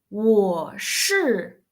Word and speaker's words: 我: That's we pronounce round our lips. So it's 我 You're right?